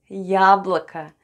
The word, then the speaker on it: яблоко: Let's read Я, Б, Л, О, К, О. And we have яблоко. Яблоко. Яблоко. Яблоко is apple in Russian. And both letters О are unstressed and pronounced as А.